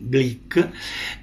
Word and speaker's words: Glück: Louise Glück, nome difficile da pronunciare, pare che si debba dire una U che sembra una I, Glück.